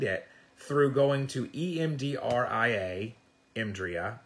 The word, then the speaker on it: EMDRIA: You can find it through going to EMDRIA, EMDRIA, we usually pronounce it as a word, .org.